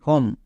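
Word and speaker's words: home: হয় চলো দুটোই দেখি এইচ ও এম ই হোম এবার এখানে দেখো শব্দের শেষে ও এম ই আছে এর জন্য ওম উচ্চারণ করব না আম করবো কোনটা করব এখানে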